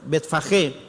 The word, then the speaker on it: Betfagé: Siempre que ustedes tengan una J de una g de gato, perdón, sin la u se pronuncia como J. Betfajé y Betania en el monte de los Olivos.